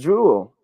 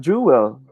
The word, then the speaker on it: jewel: It should be pronounced as jewel, not jewel. Or jewel sometimes. We say jewel sometimes. Or jewel. But it should be pronounced as jewel, a 1-syllable word.